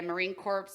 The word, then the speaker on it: Marine Corps: is the S there the S is silent and the P yeah it's Marine Corp